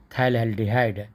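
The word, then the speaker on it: phthalaldehyde: t h a aldehyde p h t h then pH is silent okay p h t h t h aldehyde means thylaldehyde okay okay tell that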